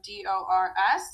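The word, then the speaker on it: dors: on an s so d-o-r-s so dor n-2 is d-o-r-s so these three are all pronounced the same dor d'or the next two new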